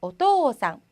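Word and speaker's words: おとうさん: 그래서 토우상이 아니라 어떠상. 토를 길게 해주시면 돼요.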